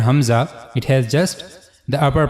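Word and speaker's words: ء: So for pronouncing hamza you have to use the lower part of your throat. Hamza.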